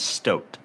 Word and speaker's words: Stoat: Yes, Stoat. S-T-O-A-T. Oh, it's like Stoat, but it's spelled like boat.